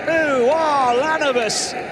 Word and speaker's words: Ulanovas: Pangos thought about the 3, passes on the responsibility to Ulanovas. Add an extra syllable. Edgarus Ulanovas.